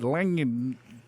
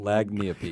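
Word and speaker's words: lagniappe: Yeah, because I would have said lanyap. I would have said, appy. lagniapi. Lagniapi. I guess the G is silent.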